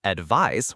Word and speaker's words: advise: A good way to remember might be that the noun advice with a c is like other nouns ending in ice, such as practice or device, which often have that s sound, while the verb advise with an s shares the z sound with many other verbs like devise or revise.